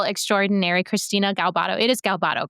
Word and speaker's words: Galbato: It is Galbato, correct? Yes. Okay, wasn't sure if I was pronouncing that right, but she and I have been following each other for a while now.